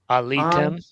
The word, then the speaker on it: עליתם: Lo Alitem. Lo alitem. Alitem. Okay, but the stress is on the ultima, which causes reduction where?